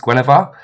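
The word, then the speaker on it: Guenhwyvar: all about his Panther I think it's pronounced Gwar um so it fights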